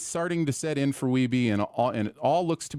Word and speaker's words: Wiebe: Day one begins with Sanders passing on Weeby's scores to Billy this time. He's scoring good scores, but not getting close to 1 million. Sanders clarifies the pronunciation of Weeby, not Weeb, for his last name, and everyone is impressed by his persistence.